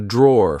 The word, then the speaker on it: drawer: This is a drawer. Like I said, be careful because in British English, we don't pronounce the e at the end. We just say draw.